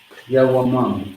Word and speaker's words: Yawamam: So we have ya, then we have wa, then we have ma, then we have ma again, but this time without the A. Yawamam. Yawamam is how you say the word.